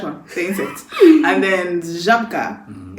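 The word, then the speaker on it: Żabka: And then Zabka, it's written as Zabka but pronounced as Zabka. Zabka, yeah.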